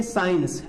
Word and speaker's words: science: जैसे हम लिखते हैं साइंस, SCIENCE, क्या बोलते हैं, जैसे हम लिखते हैं साइंस, तो साइंस में क्या है, SC को मिला के इसका प्रोनाउंसिएशन S हो जाता है।